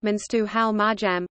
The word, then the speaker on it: Mengistu Haile Mariam: Mengistu Haile Mariam Amharic, pronounced Menstu Hal Marjam, born 21 May 1937, is an Ethiopian soldier and politician who was the leader of Ethiopia from 1977 to 1991.